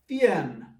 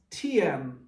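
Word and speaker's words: Thiền: Korea, and in Vietnam it is referred to as Thien, or some pronounce Tien.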